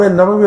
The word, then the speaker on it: نووی: نے عرض کی۔ امام نووی رحمۃ اللہ علیہ، بڑا نام ہے ان کا، کچھ لوگ اس کو نووی پڑھتے ہیں، نووی، یہ غلط ہے۔ امام نووی کے تلفظ ٹھیک نہیں، نووی، امام نووی، بڑا